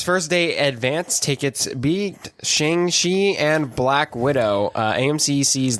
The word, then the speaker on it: Shang-Chi: It's Shang-Chi.